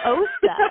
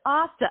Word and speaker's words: Osta: Osta like pasta. I can't. Everyone says Osta, and I'm just like, it's not Osta, it's Osta. Like, Osta like pasta.